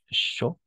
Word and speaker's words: chaud: Entonces aquí sería como que simplemente show, ¿de acuerdo? Aquí una show, así, porque la D no se pronuncia, entonces show.